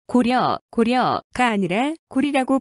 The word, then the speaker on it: 고려: 려가 아니라 리라고 있습니다 고려 고려가 아니라 고리라고 발음해야 올습니다 고구려 고구리 역시 고려